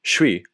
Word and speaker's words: suis: If you know that you're actually listening for suis, one syllable instead of two, or tr instead of être, then you can get some meaningful listening practice in.